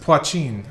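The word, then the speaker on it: poitín: Pronounced Poachin.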